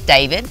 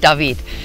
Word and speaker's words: David: into the town of David, also known as David, but pronounced David.